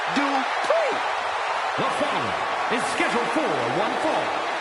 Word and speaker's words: Dupri: Uh, Michael, it's pronounced Dri. The final is scheduled 414. Making her way to the ring, representing the Alpha Academy from Phoenix, Arizona, Maxine Dri.